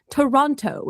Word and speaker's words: Toronto: I pronounce basically none of those O's, depending on how quickly I am saying the name of the city.